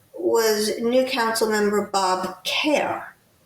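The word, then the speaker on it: Kehr: It passed 7 to one and the one was new council member Bob Care, whose name is spelled K E HR, but it's pronounced care.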